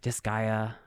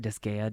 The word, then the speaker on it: Disgaea: The company Nipponichi is known for creating games like Disgaea. I think that's how you say it. Disgaea, Disgaea, Disgaea.